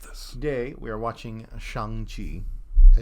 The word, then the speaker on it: Shang-Chi: like people love this today we are watching Shang Chi did I say it right yep sh oh the people who mispronounced that when it came out tell us